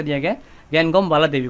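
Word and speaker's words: Ngangom: ठीक है, इसमें एन साइलेंट है, इनका नाम है गैनगॉम बाला देवी।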